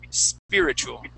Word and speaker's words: spiritual: Instead of spiritual, okay, it's spear. The first I is spear, but then that next I is I, spirit, spiritual.